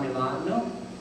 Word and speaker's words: Milan: And if you were from Italy, you know it's Milan, Milano. But here, of course, it's Milan.